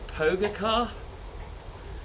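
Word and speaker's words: Pogačar: You're just saying words now to try and get me to pronounce them, aren't you? Like Vodlik and Pogacar.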